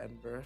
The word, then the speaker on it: Edinburgh: I went to Edinburgh for a day. It's fucked up that you guys pronounce it like that, because that's not how it's spelled.